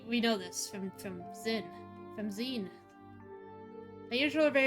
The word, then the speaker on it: Zin: Zen.